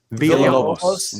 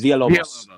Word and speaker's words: Villalobos: I'll tell you what is real, and that's the 1 in 100 Pablo Villalobos. Is that how you say it? Villalobos. Villalobos.